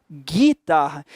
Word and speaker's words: guitarra: Esse G e esse U aqui, o U não é pronunciado. Ninguém vai a uma loja para comprar guitarra. Alguém vai? Não, naturalmente, cara, você vai pedir o quê? guitarra.